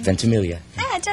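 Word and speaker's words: Ventimiglia: vilia is that how you say his name vilia I did it right how about that are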